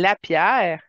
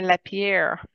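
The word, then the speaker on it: LaPierre: sarquiciia la pierre une lapère ouais mais écrit l a P majuscule I e r e c'est pas un lapère comme qu'on voit écrit ok c'est c'est un lapère qui est devenu un lapère ouais ouais ouais ok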